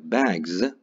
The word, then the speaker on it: bags: For instance, a word like bags, this S is pronounced Z here, just because the preceding sound is a voiced sound.